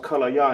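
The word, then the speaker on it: כליה: Can English is pronounced kallaya in Hebrew. Kallaya.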